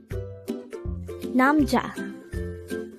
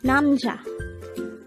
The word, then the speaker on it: 남자: hango word number 124 namja namja this is pronounced as a two syllable word the first syllable is nam the second syllable is cha pronounce it with me namcha namja namja is